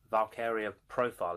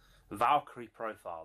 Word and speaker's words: Valkyrie Profile: And it is the mighty Valkyria Profile, is it? I think that's how you say it. Valkyrie Profile, there we go.